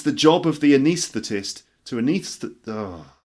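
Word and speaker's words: anaesthetist: can repeat this it's the job of the anesthetist to anesthetize the patients with an anaesthetic it's the job of the anesthetist to anis that there are it's the job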